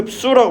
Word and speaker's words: 흡수: 흡수라고 발음하죠.